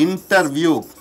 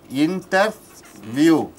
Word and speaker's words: interview: T is not pronounced. For example, what? See interview. Interview.